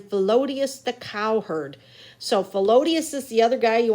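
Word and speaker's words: Philoetius: So Felodius is the other guy.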